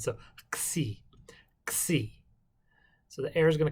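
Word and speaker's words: ξ: as a ch but a c in greek is a like a k and then you add a little more air from the back over the back of your tongue and then and then and finish it out with a s sound so xi xi so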